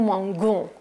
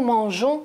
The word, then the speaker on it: mangeons: Alors, pour ne pas dire nous mangons, j'ajoute ici la lettre E, faites attention, et je veux dire nous mangeons. Je ne veux pas prononcer nous mangeons, bien sûr, ce n'est pas correct. Je veux dire nous mangeons directement.